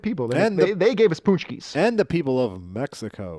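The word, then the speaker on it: pączki: And They gave us punchkis. and the people of Mexico. Ponchkis. I like It's them punch. too. It is punchki, Shée.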